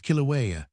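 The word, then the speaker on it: Kīlauea: It is called sometimes Kuria, sometimes Kilauea, for the natives seem not very particular about the pronunciation of their L and their R, but where one uses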